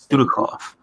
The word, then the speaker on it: Dudikoff: Dudikoff. Dudikoff. Yes. Dudikoff. Dudikoff. That's how they pronounced it.